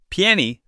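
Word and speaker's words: 便宜: Piany. This sounds kind of like pián. Yep. And it means cheap. You're going to use this word a lot. Trust me. Piany is officially my favorite word of the day.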